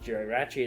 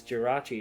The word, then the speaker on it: Jirachi: that conversation go hey you're pronouncing that wrong am I though am I really because yeah you know what Gerry ratchi is Jirachi and he goes no it isn't and he just held